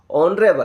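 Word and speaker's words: honourable: यह दिखने में एच है। लेकिन इसको क्या क्या पढ़ते हैं इसको? ऑनरेबल।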